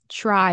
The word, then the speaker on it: try: It might, most likely, will be pronounced as a ch sound and a r sound. So, for example, this word here, try, right? Try instead of try.